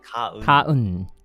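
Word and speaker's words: 가은: Let me just take a So there's this character, her name Gaeun, and I always pronounce it as Gaeun. Gaeun? Is that correct? Korean? Kaun.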